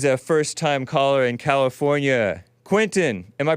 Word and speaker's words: Quintin: Quintin, am I pronouncing it right?